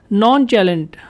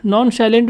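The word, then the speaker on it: nonchalant: नॉन चैलेंट, ठीक है, नॉन साइलेंट भी आप इसको कह सकते हैं, नॉन चैलेंट भी आप इसको कह सकते हैं।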